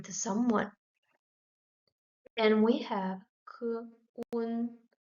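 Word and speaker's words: 困: And we have k, un, k, un, kun. Fourth tone, kun, kun, which means tired, exhausted.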